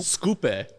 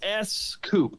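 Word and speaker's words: Scoupe: Scoope. Yeah, it's S Coupe. In some markets, they called it the S Coupe, and in the U.S., they called it the Scoop.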